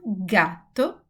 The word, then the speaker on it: gatto: So if G, the letter G is followed by A or U or H, we will have a hard sound. I will have the sound like G, like go, good, or garage.